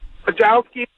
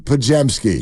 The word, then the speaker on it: Podziemski: Podziemski, Podziemski. Okay, there it is. Your vote to best mispronunciation goes to who?